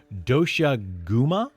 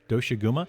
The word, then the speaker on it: Doshaguma: Then after you finish that, you'll be able to do the Doshaguma hunt. Doshaguma, I believe is how you pronounce that, where you will be